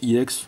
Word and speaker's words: EX: Il y en a qui prononcent IX, d'autres X. Hein, chacun ses préférences.